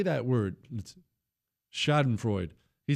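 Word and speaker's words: Schadenfreude: Not in the shod and fraud. Shod and fruit. Hey, Chris, how do you say that word? Shodenfro.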